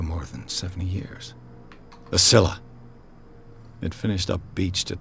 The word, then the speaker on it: Scylla: A Scylla. It finished up beached at the entrance to the harbor. I did pronounce it right.